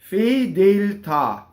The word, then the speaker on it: fedeltà: Fedeltà. So the accent is on the ta.